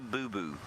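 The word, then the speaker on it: boubou: It's a bulbul, not a boo-boo. B-U-L, B-U-L, bulbul. There is a boo-boo, but that's spelled B-O-U-B-O-U.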